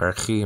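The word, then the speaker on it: ἀρχή: Arche, nowadays pronounced archi, modern Greek, alpha rho, chi, eta, nowadays called eta, like I said before.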